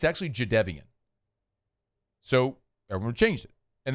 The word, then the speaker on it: Jadeveon: J- Forever Jadeveon Clowney was Jadeveon Clowney till he corrected it was like, "It's actually Jadeveon."